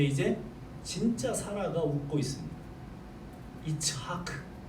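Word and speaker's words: יצחק: 이츠하크. 이것이 이삭의 발음이에요. 이삭의 이름이 히브리어로는 이츠하크입니다.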